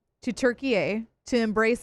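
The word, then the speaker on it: Türkiye: They're only now saying, "By the way, we actually prefer it if you said Turkey A."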